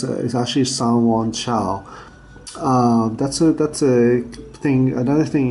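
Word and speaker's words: Sanyuanqiao: So Q is mostly pronounced as a C. So it's actually Sanwon Chao.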